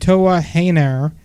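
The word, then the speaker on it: Toa Henare: Also, Minoru Suzuki and Lance Archer defeated Juice Robinson and Toa Heinar.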